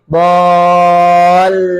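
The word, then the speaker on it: الضالين: magdubi alaihim wadin Ah, di lam ditekan dulu. Ingat tasydid jadi lamnya jadi kuat. Dol. Jadi gini dolin. Jadi bunyi linnya setelah ditekan el lin. El lin gitu dulu ya.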